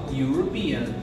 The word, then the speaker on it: European: a letra E, ó, European. Mas olha o som que eu pronuncio quando eu falo europeu, European, European, European. Por ser assim, por começar também com o som de you, vocês irão utilizar a